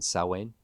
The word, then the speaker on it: Samhain: Samhain.